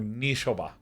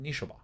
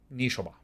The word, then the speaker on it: Nishoba: here's my answer to you nishoba brawler or nishoba excuse me it's pronounced nishoba nishoba one and a green pawler's power is equal